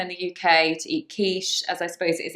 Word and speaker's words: quiche: Quiche, which is said actually in this case as a sh.